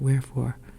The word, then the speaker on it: wherefore: But getting back to that wherefore and the silent H, it was the English